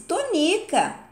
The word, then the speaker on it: Tonica: Não, boba, mamãe chama-se Tonica. E o rinoceronte está falando em sílaba tônica. É muito diferente. Perfeitamente, confirmou Quindim. No nome de Dona Tonica, a sílaba tônica é ni.